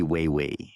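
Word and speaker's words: wewe: The name itself came from an Ojibwe word, wee-wee, which is pronounced roughly way-way.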